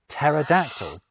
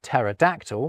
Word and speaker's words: pterodactyl: So, we pretend the P isn't there when we pronounce Greekder derived words like psychology and psalm. Ditto with t words like pterodactyl.